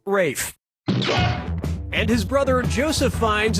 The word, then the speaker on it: Ralph: worked yep ray fein's first name is spelled like ralph but pronounced rafe and his brother joseph